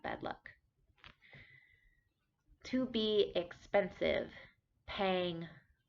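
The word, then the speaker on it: แพง: luck to be expensive paying paying with a middle tone pang uh this is good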